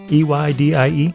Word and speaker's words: Eydie: E-Y-D-I-E? Yeah, I pronounce it Eydie, but whatever you want to do.